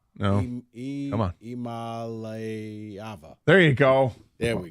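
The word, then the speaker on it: Iamaleava: yeah, but phonetically, Imalivia. No, come on, Imalayava.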